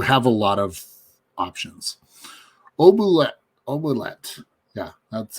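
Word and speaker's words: Oubliette: Obulet, yeah, that's how it's pronounced.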